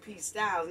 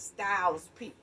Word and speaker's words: Styles P: i might have said his name wrong at first p styles no it's styles p okay correction on this